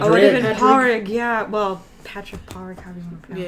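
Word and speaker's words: Pádraig: That's R-A-I-G, but you pronounce it Padraig.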